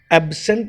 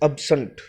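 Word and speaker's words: absent: Question number 21, एब्सेंट नहीं होता, इट इज अब्सेंट। अब्सेंट, अ ब स अ, अब्सेंट।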